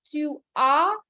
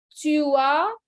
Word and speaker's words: tu as: Avoir is tu as, il a, elle a. So remember the pronunciation, okay? J'ai, tu as, il a, elle a, nous avons, vous avez, ils ont, elles ont.